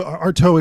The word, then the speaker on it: Artaud: How do you say his name? Artaud. Yeah. Antonin Artaud. Yeah.